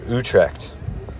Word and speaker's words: Utrecht: I highly recommend visiting the Netherlands in general and Utrect or Utrect as it's properly pronounced.